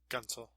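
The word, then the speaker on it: Guentzel: Would you say Gunsel or would you say Gensel, as most of them are saying whenever I'm listening on air? Gunsel.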